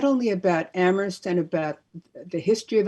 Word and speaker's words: Amherst: all its contradictions and amherst is a particularly interesting place you know for those who don't know it uh there's a saying that amherst where only the h is silent and so talk about